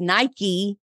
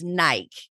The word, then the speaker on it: Nike: talking about workout shoes I said Nike and she was like no girl it's Nike and she's like I live in the Pacific Northwest that's where their headquarters that's not how you say it and I was like